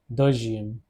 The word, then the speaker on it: deuxième: Deuxième. The pronunciation is deuxième.